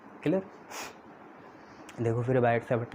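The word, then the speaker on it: Biot–Savart: नाम तो कुछ अलग है, पर इंग्लिश में आप उसे बायट-सैवर्ट लॉ बोल सकते हो। उसमें कुछ चीज़ें साइलेंट होती हैं, बायट-सैवर्ट लॉ, ये जो वर्ड है इसमें कुछ चीज़ें साइलेंट होती हैं।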